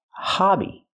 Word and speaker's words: hobby: the word Hobie Hobie it's pronounced hobby use a short a sound like hot and stop it's open and relaxed ah ha hobby not